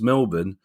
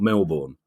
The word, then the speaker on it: Melbourne: Middlesboro now living in Melbourne pronounced Melbourne not Melbourne that put put you